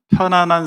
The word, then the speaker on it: 편안: 복음을 위해 살려면 편안한 삶을 살 수 없어요. 엊그저께 제가 어떤 분이 그런 말씀하시더라고요. 편안과 평안은 다르다. 발음 잘해야 된다. 편안, 니은이죠? 편안과 평안은 다르다.